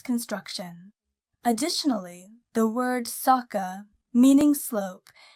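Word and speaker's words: 坂: Additionally, the word saka, meaning slope, is pronounced the same as the word for prosperity, thus reflecting the wish for the temple to continue flourishing.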